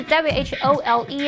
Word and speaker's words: whole: tail。The dog is wagging its tail。那只狗狗正在摇尾巴。好，第四个单字呢，它可以当形容词来形容全部的、整个的，这个叫做 whole。whole 前面是 w h o l e 哦，少了 w 会变成 whole，那个是动哦，两个发音一样，但拼字不同。She spent the whole morning doing housework。她一整个早上都在做家事。好，太好了，我们在一分钟之内已经完成任务，顺利复习完四个单字喽。同学们表现很棒，那平常还是要多多复习，多多造句练习。我们下次见，拜拜。Thank you.